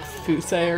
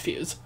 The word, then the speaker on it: Fuse: princess views i know it's like fousey or something but like it's it's fuse yeah princess fuse and